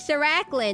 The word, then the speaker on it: Siran: Hello, my name is Siran the masquerade and YouTuber. I stream both on Twitch and sir, it's like sir a it's like it's pronounced like sir sir.